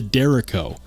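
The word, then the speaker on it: Derecho: it's they confirmed it is in fact the dero so this guy right here it's the dero or at least that's what Brian from sharp by Design says uh they still have those available DLT trading dero or did they sell out I bet they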